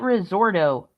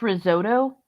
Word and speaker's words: risotto: pronouncing it right now you called it risorto now it's risotto I don't understand you